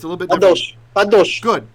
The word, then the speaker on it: kadosh: Kadosh. Good. Kadosh, right?